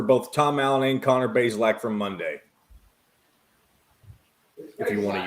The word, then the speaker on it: Bazelak: name's Connor Bazelak. It's pronounced Bazelak, not Bazelak.